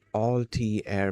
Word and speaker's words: Altair: than on national television, the all tair pronunciation stuck hard in uh in the tech community.